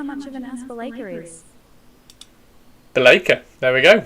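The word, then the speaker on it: Be'lakor: cool, and shows how much of an ass Belacor is. Belacor. There we go. We have a official pronunciation of Belacor.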